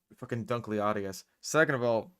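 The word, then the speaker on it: Dunkleosteus: so first of all you mispronounced dun closius there second of all um dunkly Aus second of all like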